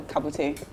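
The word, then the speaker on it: Cabutt: How do you pronounce that? Kabat. Yeah, Kabat. So I said, you are Kabat. He said, no, Kabute.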